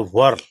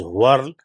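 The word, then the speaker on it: whorls: patterns are very important when we say w-h-o-r-l-s the spelling of it is pronounced as a world i have seen that in some of the industries that shouldn't pronounce in different words but it should be pronounced as world right when we look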